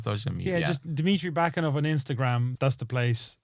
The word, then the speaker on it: Bakanov: Bakanov, like baklava in November.